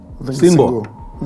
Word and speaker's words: Singo: by the name of, is it Shingo, or how do you pronounce it? Singo? Singo.